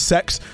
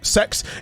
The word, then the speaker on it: CeX: not I'm not joking they actually genuinely pronounce it as sex the store is pronounced sex it is a um